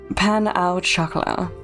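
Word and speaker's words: pain au: You got a panau. I think that's actually the pronunciation.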